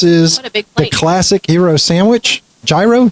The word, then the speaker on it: gyro: Gyro. Giro. Well, how do you say it? Euro.